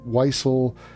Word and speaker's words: Wiesel: Elie Wiesel. Now, Wiesel, it's not an easy thing to pronounce. It's not obvious that you pronounce it as Wiesel because it's a W.